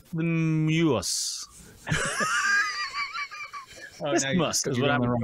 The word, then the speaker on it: isthmus: There's an extra syllable in there. It's the muse. Isthmus is what I'm going to go with.